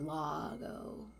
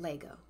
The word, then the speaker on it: Lago: Bonnie, is it Lago? Like Lago. Not Lego.